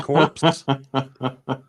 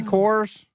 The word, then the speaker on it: Corps: Now, Did you say corpse? did I say cores? Contra Hardcore. Okay, sorry. The PS is silent.